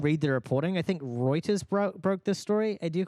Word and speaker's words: Reuters: Reuters. That's how you say it.